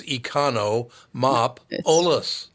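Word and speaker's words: Economopoulos: You look at it, it's econo-mop-olus.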